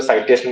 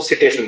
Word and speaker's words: citation: Site करना, CITE, site करना, और उसका जो इंडेक्स है, जो साइटेशन इंडेक्स अपने बोलेंगे CITATION, लेकिन उसको सिटेशन बोलते हैं, सिटेशन इंडेक्स।